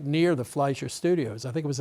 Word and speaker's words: Fleischer: And you write that the animators at the, is it pronounced Fleischer? Yes.